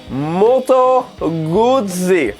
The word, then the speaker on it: Moto Guzzi: with one it's an Italian company and it's pronounced molto woodsey and when you say it you have to